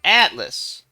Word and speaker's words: Atlas: as you little alice oh atlas the t is silent i think hey i've